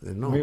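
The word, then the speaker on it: Le Nôtre: Lenôtre. Muy bien, muy bien. Bueno, muy bien, pues. y después está la Pronunciado.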